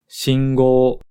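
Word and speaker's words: 信号: Shingo, 信号. In this case, the n creates a nasal sound.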